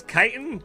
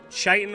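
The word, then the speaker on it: chitin: It's tempting to pronounce kitan, but pronouncing it chitan with a posh accent is really fun. Okie dokie. Holy Oh, shut up. You're like the least fearsome thing in this cavern. You're just awesome. Careful. Don't fall down there. I know what it's like to do that. So, I've always heard it pronounced kiton like it's like a like it's just like a K.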